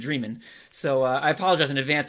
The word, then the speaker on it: Dreman: So I've been calling him David Dremen for 18 years, and in prepping for this, I've realized it's actually David Dremen.